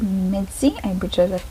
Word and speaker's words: MIDZY: and today we have letters to mitzi that's how you pronounce the phantom's name i'm pretty sure i'll